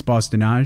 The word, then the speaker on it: Bosse-de-Nage: And so Bosse-de-Nage, well, first let me ask, that's how you pronounce the band name, right? It's Bosse-de-Nage?